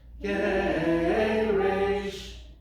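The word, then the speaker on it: Geresh: So that's Geireish showing you that it's on the second to last syllable. 1, 2, 3. Geireish.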